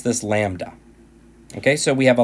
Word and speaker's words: lambda: PI symbol I've guaranteed that but you would pronounce this lambda ok so we have a lambda equal to